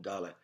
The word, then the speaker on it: Dalet: But when you go to the Bet, it's going to be ba, Bet. It's going to be ga, Gimel. It's going to be da, Dalet. So you understand the transliteration and the actual phonetic sound that letter, that consonant is creating simply by the sound of the first syllable, the first letter that you are pronouncing.